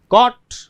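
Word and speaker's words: caught: अब इसमें जो जब भी ध्यान दीजिए AU आता है और उसके बाद में G आता है, तो उसमें सीधा कॉट, कॉट, यानी वो G है वो उसमें साइलेंट हो जाएगा।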